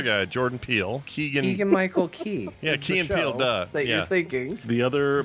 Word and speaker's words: Key: have been perfect time for uh Keegan Michael Keel or whatever you say his name to go uh I don't know I can't talk heal now peels the other guy Jordan peel Keegan Michael Key yeah thank you the other mechanic that's unique